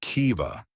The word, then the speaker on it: Kiva: It is Kiva, like key with a soft V.